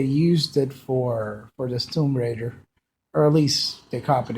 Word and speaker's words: Tomb Raider: you know that the the game Tom Raider 2013 that is uh Tomb Raider for the proper pronunciation uh it's a pretty